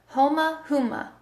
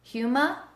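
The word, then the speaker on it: Houma: Is it Huma? Like Houston, Huma, Louisiana?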